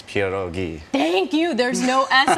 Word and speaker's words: pierogi: want to say it the right way right Pia doggy kiddo get snappy oh jeez it's pure ghee thank you there's no ads on the end